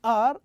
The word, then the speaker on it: are: It ends with E actually, but E here is not pronounced. So the sound that we end the word are is R, a ra sound, ra sound.